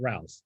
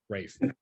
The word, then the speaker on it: Ralph: will be talking about rafe von williams not ralph rafe right yeah like ray finds did not know how